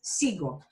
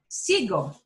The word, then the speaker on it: sigo: For the yo form, the U will not even appear because G-O already makes it a hard G sound. So there's no reason for that U to step in and give the G the g, g sound. So it's sigo, sigo, sigo.